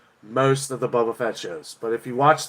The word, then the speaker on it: Boba Fett: yeah hey that's actually how you say it boba fett good job i'm smart uh dave says ron